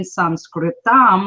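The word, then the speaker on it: संस्कृतम्: And the technical term in Sanskritam, which is how you say Sanskrit in Sanskrit, is through spoken words.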